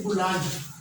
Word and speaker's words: بلند: پاس وہ ہے بلند۔ بلند نہیں ہوتا، با کے اوپر پیش آئے گی، بلند۔ ہمارے پاس جو آخری